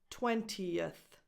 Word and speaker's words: twentieth: In these cases, you need to add a little extra sound, a little extra schwa before the th. 20 becomes 20th, not 20th.